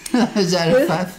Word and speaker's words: Zarephath: because he sent Elijah to a woman from Zarephath. Is that how you pronounce it? It is. Well done. Zarephath.